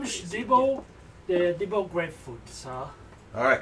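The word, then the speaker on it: Dibbo: My name is Debo, the Debo Grapefruit, sir. Alright, can you spell that?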